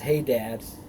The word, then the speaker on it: Hadar: of ackboard died and hadar also pronounced hey dad reigned in his stead